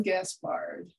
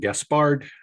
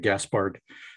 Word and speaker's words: Gaspard: You pronounced it one of the two ways that is acceptable. My wife is more persistent about and Gaspard, but I've always had Gaspard. So I answer to either one.